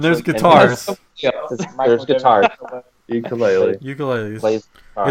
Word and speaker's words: ukulele: ukuleles. Plays guitar. It's pronounced ukulele if you want to be official. Ukulele. If you go to Hawaii, that's how they pronounce it.